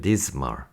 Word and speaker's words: dismal: 하지만 비슷한 표현으로 dreary, dismal, S 발음, S 발음 아니고 Z 발음이면 dismal, somber.